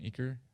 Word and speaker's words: Eaker: Madam Eaker sing, and I'm excited about that, and I say it like it's French.